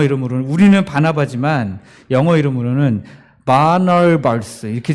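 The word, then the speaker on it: Barnabas: 약간 좀 영어 이름으로는, 우리는 바나바지만 영어 이름으로는 바나발스 이렇게 좀 어렵게 발음해요.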